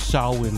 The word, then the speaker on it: Samhain: The correct pronunciation. Samhain? Samhain. Samhain. It's Samhain.